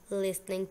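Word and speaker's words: listening: टू आई am done लिसनिंग टू यू इसमें है T silent लिसनिंग में है टी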